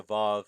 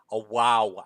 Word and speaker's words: vav: Steve Rudolph was pointing out that Nehemiah Gordon, who by the way is Karaites, pronounces it as a vav and not as a wow.